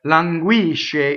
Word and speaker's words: languisce: on the unstressed syllable, like languisce, you know that's closed because gui is the stress.